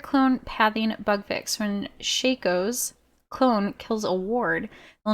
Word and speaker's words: Shaco: ap to 90 ap shaco which sounds like fakeo which is how i know how to say it correctly now q orange smoke vfx